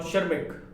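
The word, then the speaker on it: Tschermak: Correns and Eric von शर्मिक, यहां पर T silent रहेगा, एरिक वॉन शर्मिक के अंदर टी साइलेंट रहता है, नाम यही है, याद रखें आप।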